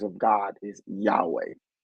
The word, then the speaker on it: Yahweh: night name Yahweh right Yahweh is not to be said with multiple syllables right it's to be said with your breath so when you breathe in it's yah yeah so it's really a breath in and out so in other words